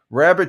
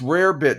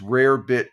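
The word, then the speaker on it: rarebit: Hey, deplorable rabbit cheese sounds odd. Yeah, it's rare bit cheese. The pro proper pronunciation is rare bit cheese.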